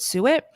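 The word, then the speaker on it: suet: uh inflammation is Sue it so write it down s u t that's how it's spelled and you pronounce it Su it for my new carnivore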